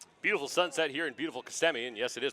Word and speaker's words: Kissimmee: take the pitch beautiful sunset here in beautiful Kissimmee and yes it is pronounced Kissimmee reminds me of the beautiful face of our